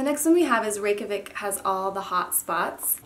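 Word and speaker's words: Reykjavík: nail and the next one we have is rikic has all the hot spots and thank you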